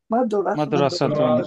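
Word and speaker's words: مدرسة: মাদ্রাসাতুন একটি মাদ্রাসা। মাদ্রাসাতুন একটি মাদ্রাসা। মাদ্রাসাতুন একটি মাদ্রাসা। মাদ্রাসাতুন মাদ্রাসাতুন মাদ্রাসাতুন মাদ্রাসাতুন। রটা একটু মোটা হবে। র র মাদ্রাসাতুন।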